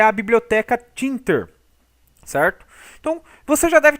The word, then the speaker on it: tkinter: Então, from Thinter, certo? Aqui vai uma dica, apesar de estar escrito tkinter, né? Eu vejo muitas pessoas falar tkinter, mas a pronúncia correta é Thinter, ok?